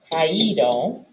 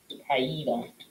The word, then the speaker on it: caído: Most infinitives that have 2 vowels together in the infinitive have an accent on the I of the past participle.